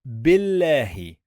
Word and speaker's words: بالله: The first syllable, we said billahi, billahi. So the first syllable is bil, bil. We are gonna stop here. Bil, remember we don't pronounce this one.